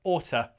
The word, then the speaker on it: ought to: Yeah, we can say oughta. You really ought to go to the doctor. So notice that the to, it's never stressed.